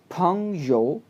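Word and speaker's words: 朋友: इसी तरह next word देखें जी, PENG सेकंड टोन, फंग, YOU यो, फंग यो, फंग यो, फंग यो, फंग यो कहते हैं फ्रेंड को जी।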